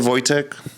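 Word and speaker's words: Wojtek: forth I mean bro his name was wtech uh phonetically spelled voch voch polish right I think that's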